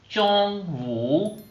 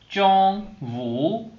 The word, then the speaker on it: 中午: friends, today's word is Chongwu. Chongwu. Chongwu. Its sound pronunciations or opinions are written as Chongwu.